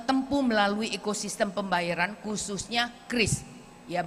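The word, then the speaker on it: QRIS: melalui ekosistem pembayaran khususnya Kris ya, Bapak, Ibu bacanya Kris ya, bukan curis ya. Karena kalau kita ngomong itu bukan curis dayanti tetapi Kris Dayanti. Jadi ngomongnya Kris ya.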